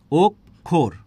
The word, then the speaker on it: অক্ষর: ওক আরেকটা কি বলেছি ওক খোর তাহলে অক্ষর শব্দটা যখন আমরা উচ্চারণ করছি কি বলছি ওক বলছি আর কি বলছি খোরও বলছি যে ওক এবং খোর তাহলে এই যে ওক